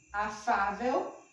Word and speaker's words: afável: Afável, a sílaba tônica é Fá, e termina em que, gente?